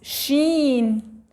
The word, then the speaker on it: شين: Sheen has 3 points. Sheen. Sheen, like we pronounce shine.